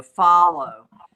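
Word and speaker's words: Fahlo: Follow. F A H L O. Follow.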